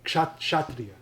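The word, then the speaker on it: Kshatriya: say well now now the modern like a Hindi pronunciation would be shatri shatri yeah okay okay Shak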